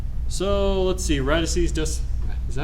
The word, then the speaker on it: radices: So let's see, radices, is that how you say radices? Is that the word? Is that how you pronounce that?